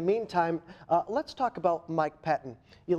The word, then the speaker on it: Pettine: In the meantime, let's talk about Mike Pettine. You like that transition there? Again, these cheese puns will help you learn how to say the names. The new defensive coordinator, Mike Pettine, not Pettine. Mike Pettine, what do we know about him?